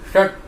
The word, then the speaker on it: षट: षट षट षट, हमारी जो जीवा है पलटी हुई है, तो इस मूर्धन्य सकार का उच्चारण बिल्कुल सही होगा।